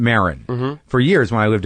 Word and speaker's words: Maron: the same last name yes you're Moren is that how you say it that's right yeah and I'm Marin for years when I